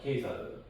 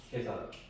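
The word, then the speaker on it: Caesar: 어 지금 K를 쓰지만 옛날에는 이제 C로 썼다는 거죠. 그래서 C가 이제 키 발음이에요. 그래서 아 세계사에서 저건 이제 시저라고 하지 않고 예사르라고 합니다. K사르 그렇죠. 어 K사르 저 사서로도 마찬가지예요.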